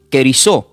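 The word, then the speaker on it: κηρύσσω: Y esta palabra griega predicando se pronuncia como querisó. Lo voy a deletear. Cadequilo e r y ss o.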